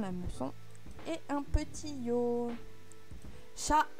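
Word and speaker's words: しゃ: Là, il faut faire attention, il y a une petite exception. C'est bien shi plus un petit ya, petit yu, petit yo. Mais il n'y aura pas de y prononcé. Ça va nous faire sha, shu, sho. Et pas shia, shu ou shio.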